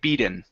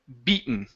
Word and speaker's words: beaten: Okay, so when a word ends with a vowel and an N, we cannot treat the T as a flap T. Okay, meaning we cannot say beaten. Okay, we have to pronounce a normal T like beaten or a stop T like beaten.